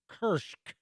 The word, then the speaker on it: Kursk: of the last ones kursk or as many people pronounce it kirsch all right let's see